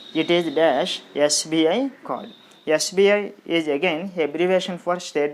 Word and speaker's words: SBI: Yes, we are pronouncing the word, the letter S with a vowel sound.